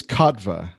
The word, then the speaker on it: Kotva: great to be here so your last name is katva yes that's how you say it kappa and what uh